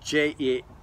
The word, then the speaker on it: Jephthah: grown up, they drove Jephthah away. Let me just point out too, Jephthah is spelled J-E-P-H-T-H-A-H. So it's like, we say Jephthah, but it's like, oh, it looks weird how you say it.